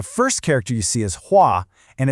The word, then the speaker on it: 画: The first character you see is huah and it's pronounced huah.